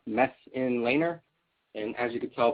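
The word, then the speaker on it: Messenlehner: my name is mess laner pronounced mess in laner and as you can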